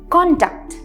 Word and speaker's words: CONDUCT: तो इसका प्रोनाउंसिएशन देखिए, एक कॉन्टैक्ट, हम यहां पे स्ट्रेस कर रहे हैं कॉन्टैक्ट।